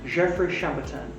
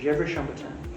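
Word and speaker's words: Gevrey-Chambertin: burgundy wine etcetera so the big pronunciation here is jeffrey shambatan or jerushanbotan and the javert amatan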